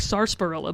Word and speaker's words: sarsaparilla: say but the sarsaparilla has essay arts like sarsaparilla but it's sarsaparilla the r is silent i guess same thing with uh vishy